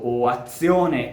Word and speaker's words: azione: If words such as "mazzo", "pezzo", "azione", or even own name, "Lorenzo", need to be pronounced with the voiceless variant, so /ts/, there are other words